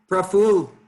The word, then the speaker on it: Praful: Praful, am I pronouncing it properly? I think you're muted. Oh, are you able to hear now? Yeah. Yeah, the pronunciation is pretty much good. It's exactly like that.